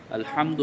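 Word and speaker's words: الحمد: অথচ আলহামদু হচ্ছে হা দিয়ে সেটা হলফের মধ্যখান থেকে উচ্চারণ করতে হয়।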